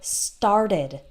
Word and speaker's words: started: We only add an extra syllable for the ED if the previous word ends in T or D. So this would be like the word started. Okay, so start has 1 syllable in the present, and then in the past, started, started, started has 2 syllables.